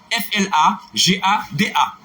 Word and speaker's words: flagada: F-L-A-G-A-D-A. Comme ça se prononce.